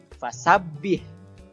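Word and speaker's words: فسبح: atau wabah cara membacanya fasabbih disitu ada huruf ba berharakat tasydid jadi banyaknya harus ditahan dulu kemudian hak sukun haknya hak kecil ya bukan hal besar jadi Hanya seperti nafas saja biasa fasabbih Kemudian bihamdi hanya juga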